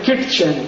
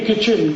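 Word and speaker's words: kitchen: क्यों हटा दो उसको एक शब्द है किट चन के आईटी सीच कहते नहीं नहीं किचन किचन किचन फिर के आईटी क्यों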